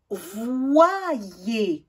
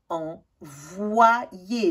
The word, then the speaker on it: envoyer: Envoyer. Envoyer. Le O avec un I, ça fait wa. Et le I avec un E, ça fait yé.